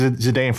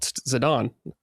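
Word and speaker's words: Zidane: Someone was like, "Oh, it's Zidon." I'm like, "What? It's not Sidane. That's how it's spelled." Like, "Nope, Zidon."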